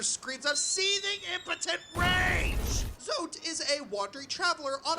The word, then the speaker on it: Zote: Zote is a wandering traveler on a... Zote, that's how you pronounce the name.